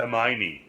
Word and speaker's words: Hermione: How do you pronounce that? Hermione.